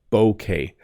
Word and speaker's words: bouquet: to pronounce it but it's basically b k bouquet bouquet so Jen likes to